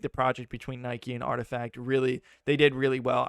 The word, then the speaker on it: RTFKT: air i was like yo we're pronouncing this wrong imagining i was sitting here like rtfkt like we got to say that every single time yeah this brand was created to intentionally be an acronym all the time because